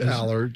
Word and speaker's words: Allar: will Howard yeah Drew Allard we'll see or allar however you pronounce it it's Allard shark as shark was